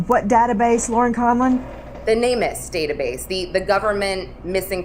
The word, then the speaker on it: NamUs: The NamUs database, the the government missing persons database. Guys, Lauren is saying n a m u s, NamUs is the way it's pronounced and it is a